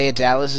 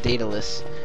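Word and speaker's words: Daedalus: think it actually is pronounced datalis and not of Dallas as I was pronouncing it because I was saying de of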